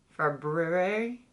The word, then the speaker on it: February: February? I say February. Like the first R is silent.